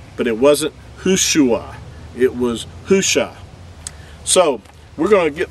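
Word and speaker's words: Hoshea: original name of joshua was hushah that's that's how his name was pronounced these are the letters that you would find for joshua's original name before it was changed by moses in numbers chapter 13 verse 16. there's the hay or the ha the ua or the the shin and the aying you would say it hush the only difference between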